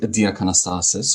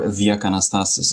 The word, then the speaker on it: Diakanastasis: yeah so I'm diastasis or theak anastasis if you want to pronounce it the Greek way I'm a half Greek